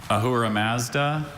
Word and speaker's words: Ahura Mazda: I have Ahura Mazda, Ahura Mazda, and Ahura Mazda.